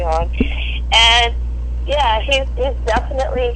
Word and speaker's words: Orion: you would so my husband's name is oron Orion um it's spelled Orion like the constellation where we call him oron and yeah he's he's